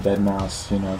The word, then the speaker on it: deadmau5: Is it deadmau5 or deadmau5? I don't give a fuck. But it's deadmau5, but it's spelled with a 5.